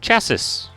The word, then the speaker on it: chassis: no one is safe third s is silent what do you mean it's called chassis that's the chassis obviously